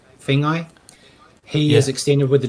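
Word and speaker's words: Feagai: Is it Fagai? Fengai.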